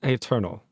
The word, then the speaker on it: Eternal: Better known as Eternal. Or Eternal? Is it just Eternal? Eternal? It's just like the word. It's just like the word eternal.